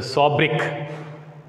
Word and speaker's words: sobriquet: So because of the work, because of her poems, she was given the sobriquet. Observe the spelling of sobriquet. It is not sobriquet. No, the T is silent here.